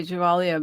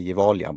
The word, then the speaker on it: Gevalia: parts of Sweden and I I pronounced it incorrectly it used to say Gevalia but yeah yeah it's probably the English one but here in Swedish you say evaliam but that's more harsh so you and it's